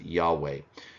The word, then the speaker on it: Yahweh: per year so uh modern Scholars reconstruct the pronunciation of this name as Yahweh this is because ancient